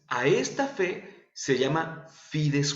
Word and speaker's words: fides: le llamamos pides fue así se pronuncia se escribe fides pero se produce a fides wen en latín cuando veamos